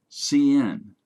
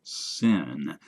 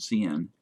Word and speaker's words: cin: Scanf, printf, cin, cout. If you pronounce cin as sin, people might think you're trying to lead a church congregation instead of writing a C++ program.